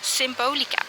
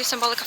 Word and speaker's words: Symbolica: We are heading to Symbolica now, because Symbolica, I keep calling it Symbolica, which I get because yes, that's the English name, but I usually refer to it as Symbolica, which is like Dutch pronunciation, I guess.